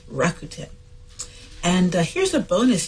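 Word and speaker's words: Rakuten: that bought into Pinterest the name is rakuen that's rakuen and uh here's a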